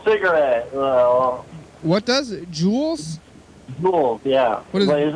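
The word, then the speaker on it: Juul: Jewels? Jewels, yeah. What is, is this a warning advertisement? What's going on here? What is jewels? A jewel. Like a diamond? It's, yeah, but it's spelled J-U-U-L.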